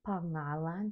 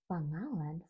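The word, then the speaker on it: pangalan: me magaling good job we have a really big word here which is palan but let's practice pronouncing the word okay palan for name now let's practice the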